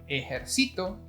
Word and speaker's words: ejercito: Ejercito. Ejercitó. We have three: Army, Work out and Worked out. That's right, by just changing the accented syllable we even have 3 different meanings.